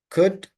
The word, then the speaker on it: could: Eliminate the L sound. Could would should.